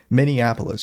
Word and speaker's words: Minneapolis: Minneapolis, James. That's how you pronounce it.